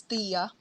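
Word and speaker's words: Tea: Actually, I listened to the audiobook, and in the audiobook, it's pronounced as Tia. Tia!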